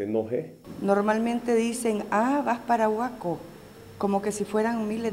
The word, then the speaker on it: Boaco: Y nosotros somos un departamento, el departamento de Boaco con sus municipios. Y dos, ni a veces no lo pueden ni escribir ni pronunciar, dicen Boaco, con U, Boaco.